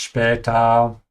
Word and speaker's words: später: Bis später. See you later. Remember that später starts with an SB, so you have to pronounce it like sp.